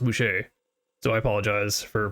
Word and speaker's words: Bueche: I realize now that I've been pronouncing that wrong the entire time. I had been saying it Chuck Boosh, because there's no R at the end or accidentally goo, but apparently it is pronounced Boucher.